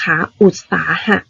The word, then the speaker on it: อุตสาหะ: ว่า อุ่น ต่อ ไป คำ เนี่ย มัน อ่าน ว่า อุ ตา อุ อุด นัก เรียน อย่า ลืม ตัว โดย เด็ก ตัว นี้ นะ คะ อุตสาหะ ค่ะ อุตสาหะ หมาย ถึง